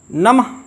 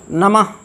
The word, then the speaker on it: नमः: हरिः, गुरुः, शनैः, स्वतः, नमः, नमः नहीं, नमः नहीं, तब तो यहाँ हा लिखा होता। अगर हा नहीं लिखा है, विसर्ग लिखा है, इसका मतलब हा की